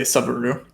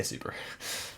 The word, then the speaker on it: Subaru: Oscar's the type of guy to say Subaru. No. We say Subaru.